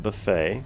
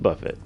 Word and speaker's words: buffet: Dark talons dragon blood wing buffet not buffet for those that are reading originally protective scale it's pronounced buffet it's noted there in the comment inhale chains of flame